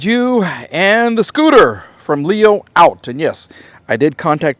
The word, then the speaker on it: Leoout: how you pronounce it you're going to hear it different ways on the YouTube but it's actually pronounced Leo out that's what the company